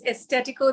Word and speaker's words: Estetico: Did I pronounce that right? Yeah, it's Estetico, the facial and brow bar.